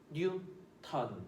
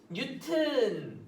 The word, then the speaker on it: 뉴턴: 뉴턴. 그치? 뉴턴이라고 읽고요. 쌤 저는 뉴턴이라고 읽기 싫어요. 뉴튼이라고 읽을래요. 뉴튼. 괜찮아요. 이렇게 읽어도 돼요. 이렇게 읽는 선생님들도 많아요. 그래서 뉴튼 어떻게 읽어도 상관없어요.